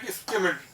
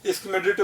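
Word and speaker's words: Schmidt: थे वो कौन थे, स्किमिड, स्किमिड, ठीक है ना, डी साइलेंट है, चाहो तो तुम स्किमिडिट बोल दो, जो तुम्हें ठीक लगता है, स्किमिड बोल दो, ठीक है, डी साइलेंट है इसमें।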